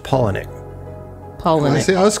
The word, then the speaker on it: Palahniuk: It's actually pronounced Palahniuk, but it's like, okay, well.